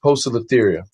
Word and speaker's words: Poecilotheria: It makes sense, but it's actually pronounced Poecilotheria. Oh.